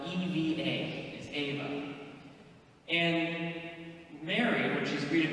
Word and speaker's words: Eva: So in Latin, the name of Eve is spelled E-V-A, is Ava.